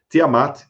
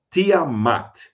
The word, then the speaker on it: Tiamat: Tiamat, você tem três eh símbolos comiformes, três sílabas aí. Primeiro, o asterisco é dinger, você não pronuncia, é apenas um determinativo para significar deus ou deusa.